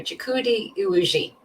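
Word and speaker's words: Chukwudi Iwuji: Sorry, I just I got how to properly pronounce the actor's name who plays the High Evolutionary, Chikudi Iwuji.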